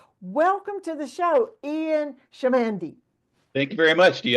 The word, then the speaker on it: Chamandy: For the audience, you'll see it's spelled C-H, pronounced S-H.